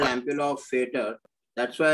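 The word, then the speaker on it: Vater: of yes yeah the the Germans pronounce v as F and that's why it's called ampulla of fader that's why it's called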